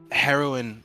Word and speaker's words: heroine: it is heroin like it is pronounced exactly the same but it's spelled different lovely yeah I love